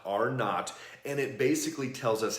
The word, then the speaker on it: R0: There was a study done where they looked, it's called R0, but you pronounce it not, R not, and it basically tells us how contagious something is.